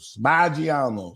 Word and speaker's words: Maggiano's: Maggiano's. What she said. But it's Italian. Maggiano's.